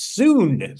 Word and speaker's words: Sun: I was told it's not Sun. It's Soon. So you get three for the price of one. I don't understand. Sorry. Oh, sorry. Now I get it. Lulu Soon.